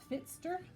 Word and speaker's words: Pfister: wake up santa claus by marcus fitzter that's how you pronounce them see if i can